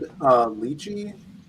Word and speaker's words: lychee: That's the way I think, like, lychee, the English word, is from the Chinese word, so it should be li.